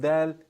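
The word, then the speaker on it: دال: With dal, your tongue is kind of flat.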